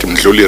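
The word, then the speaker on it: Mdluli: is called the, I got to get this pronunciation right, the Richard Ndludli report. There was Did you say Richard Ndluli report?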